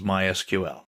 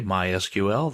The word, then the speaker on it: MySQL: so what is MySQL well it's a version of SQL we'll talk about that in a minute people in the know don't say MySQL they say my SQL that's generally how it's